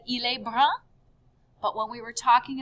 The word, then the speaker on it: brune: we said il est brun. But when we were talking about the young lady, elle est brune with an E at the end. And you hear how it changes the pronunciation. Brun, brune. Same thing with them being tall.